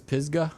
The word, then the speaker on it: Pisgah: And tell me how to pronounce this next team, Neil. Yeah. Is this Pisgah? That's right, Pisgah, and they're coming from the Jackson area.